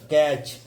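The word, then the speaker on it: catch: टी के बाद सी एच आता है तब टी का, टी साइलेंट रहती है, टी का उच्चारण नहीं करते।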